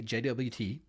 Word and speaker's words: JWT: information now this is a JWT or a jot depending on how you pronounce it okay and jwt's are